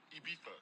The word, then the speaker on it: Ibiza: Ibiza. Yeah, it's pronounced Ibiza, actually.